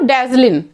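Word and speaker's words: dazzling: यहाँ भी देखिए बच्चे जी साइलेंट है, इसीलिए यहाँ पे देखिए प्रोनाउंसिएशन आपका लिख दी हूँ डैजलिन, है ना।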